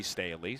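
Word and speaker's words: Stehly: Last year they had a right fielder, Murphy Staley, same pronunciation, but it was spelled S-T-E-H-L-Y.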